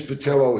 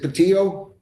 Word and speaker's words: Patillo: What day can I get Ms. Patello here? Am I pronouncing that correctly? Yeah. You say you usually leave the L side, but it's up to you. Yeah, I know. What is it really? Is it Patillo? Yes, Okay, that's what I'm sorry.